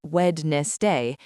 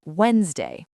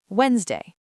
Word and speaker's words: Wednesday: The first D is silent. We do not say it. It is not wed day. It's Wednesday. Wednesday.